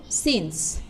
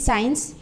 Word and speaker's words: since: কি হবে, সেখানে হবে সিন্স, SINCE। এটার প্রোনাউন্সিয়েশন হচ্ছে সিন্স, অনেকেই সায়েন্স বলে সিন্স, এটার প্রোনাউন্সিয়েশন হচ্ছে সিন্স, SINCE, সিন্স।